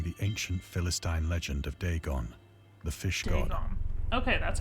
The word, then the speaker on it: Dagon: questions regarding the ancient Philistine Legend of Dagon the fish God okay that's how you say